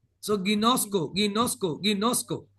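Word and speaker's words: γινώσκω: Ginosco. It is pronounced as English. Every letter is pronounced as English letter. So Ginosco, Ginosco, Ginosco.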